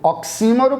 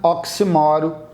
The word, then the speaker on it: oxímoro: o número ou oxfor você pode pronunciar como achar conveniente a Ambas estão corretas com acento oxímoro para paroxítona sem acento paroxítona oxímoro tanto faz e tanto faz também